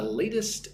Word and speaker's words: latest: Notice how with latest again, the T on the inside of the word is very soft like a D. Latest. I'm not saying latest. I'm saying latest.